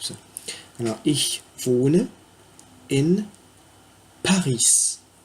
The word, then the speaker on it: Paris: Alors, ich wohne in Paris. J'ai prononcé le S parce qu'en allemand, toute lettre se prononce.